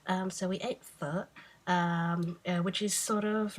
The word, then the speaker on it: pho: At least that's how my mum pronounced it. I was brought up speaking Chinese, but my parents are Chinese Vietnamese, so they can pronounce it properly. I just pronounce it like if I'm Aussie pronouncing foreign languages.